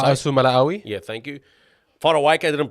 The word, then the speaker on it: Fa'asuamaleaui: Fa'asuamaleaui.